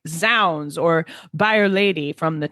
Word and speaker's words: zounds: But so Shakespeare's plays are indeed full of, I say Zounds, because I think it's for God's rooms. But I've seen that, I've heard that you pronounce it Zounds. Maybe there are the two pronunciations.